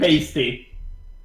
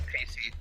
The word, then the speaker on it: Pacey: Pasty. Pacey. Pasty. That's No. better. No, it's got to be I'll Pasty spell it for you. Dawson. It's Pacey.